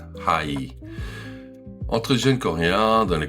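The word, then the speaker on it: 하이: C'est "hi" en anglais, prononcé à la coréenne, "hai".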